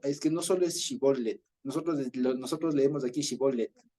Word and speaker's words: shibolet: como como el shibolet y ellos decían shibolet o sea con la conet O sea con s y con con t seca en cambio los otros pronunciaran shibolet shibolet o sea con una t media aspirada entonces hay dos dos características